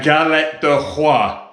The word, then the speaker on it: galette des rois: So we've come back to Vera and Steve's house, and Vera has bought us a galette de roi. Is that pronounced correctly?